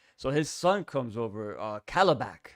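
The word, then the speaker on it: Kalibak: So his son comes over, Calabac, right? That's how you pronounce his Calabac.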